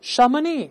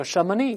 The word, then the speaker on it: Chamonix: 发祥地叫 Chamonix，这是法语，所以后面的 X 就不发音了，我们可以读一下 Chamonix，The cradle of modern